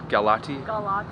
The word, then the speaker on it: Galati: pronounce it? Galati? Galati. Galati Yachts.